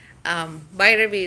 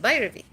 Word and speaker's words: Bhairavi: Bhairavi is how you say my name. It's quite simple. It's Bhai, like Bhai, R sound, and a V, and you say that Bhairavi.